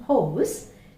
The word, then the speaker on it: hose: that's also right but there is no need to have that river there we just need to save this like this this is perfectly correct hosts okay that's all it's a long o house house that's it